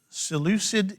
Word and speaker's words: Seleucid: antiochus epiphanes okay he grew out of this seleucid empire okay and that is s-e-l-e-c-u seleucid s-s-e-l-e-u-c-i-d